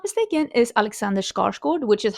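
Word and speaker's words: Alexander Skarsgård: I am actually Swedish and the main character, if I'm not mistaken, is Alexander Scarskod, which is how you say his name. Alexander Scarskord, that's his name.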